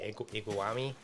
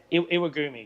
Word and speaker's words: Iwagumi: Yeah, I can totally see the similar idea of the, I don't know if I'm saying it right, iguami. How do you say it? Yeah, Iwagumi. Yeah, Iwagumi, there you go.